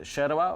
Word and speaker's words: yerba: It's called Sherba or Yerba, whatever. Yeah, it's spelled Y-E-R-B-A, but they pronounce it So it's like a tea?